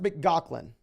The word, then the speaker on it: McLaughlin: an idiot I'm it so McLaughlin's pronounced McLachlan the pronouncers of the